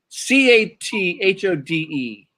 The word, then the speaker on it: cathode: CATHODE.